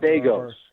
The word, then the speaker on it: Degos: So, you know, shout out deos. Is that right? How do you pronounce it? Deos. Say it again. Deos like Legos.